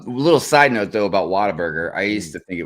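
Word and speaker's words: Whataburger: Water like with an accent or something like they were from Boston or something like Yeah. Let's go to waterburger. You mean water burger?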